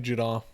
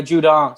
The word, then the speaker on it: Judon: The guy from Baltimore, Matthew Judon. Yeah, Judon. Sorry, I almost say a Juke for him too.